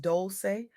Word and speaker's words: Dolce: Welcome to the Soft Girl Era podcast, hosted by Dolce, pronounced dol-chay, like sweet softness whispered in French.